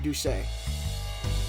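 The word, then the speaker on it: Doucet: his karate instructor Jeffrey duay I'm pretty sure that's how they say it cuz it takes place in Baton Rouge and it's it's spelled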